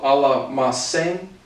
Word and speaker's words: almacén: In the context of shop goes to tienda, also to almacén. Again, I think it's a soft C.